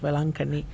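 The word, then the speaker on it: Velankanni: In the same way, in India, we have a popular shrine called Our Lady of Velankani.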